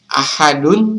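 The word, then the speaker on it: أحد: atau Qalqalah kubra nah caranya adalah Ahad Jadi teman-teman huruf dalnya itu seakan-akan memantul pada saat kita membacanya jadi kita tidak boleh membaca ahad qulhuallahu ahad jadi itu kurang tepat Kalau mau yang tepat qulhuallahu Ahad Jadi huruf dalnya harus dibaca memantul Nah selanjutnya pengertian qalqala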